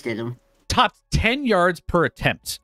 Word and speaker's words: Stidham: Jarrett Stidham, I still don't even really know how to pronounce it. Stidham. You're right. You're right. It's Stidham.